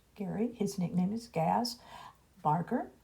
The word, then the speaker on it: Gary: Gary, Gerry, but it's pronounced Gary.